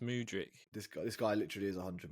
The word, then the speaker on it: Mudryk: I think it's pronounced Mudryk.